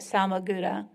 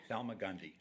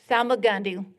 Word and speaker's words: Salmagundi: He is the founder and curator of American Masters, an annual art exhibition and sale at Salmaguda. How do you say it? Salmagundi. Salmagundi, be corrected here.